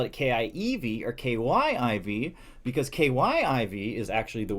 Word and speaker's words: Kyiv: K-Y-I-V, pronounced Kyiv, is the transliteration from Ukrainian. Kiev, pronounced Kiev, K-I-E-V, is the Russian transliteration. As one small way to stand with the Ukrainian people, try to stick to the first spelling and pronunciation.